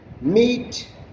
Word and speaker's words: meat: Watch out for meat, great, threat. They rhyme with, see, meat rhymes with sheet, whereas great rhymes with straight, and threat rhymes with debt.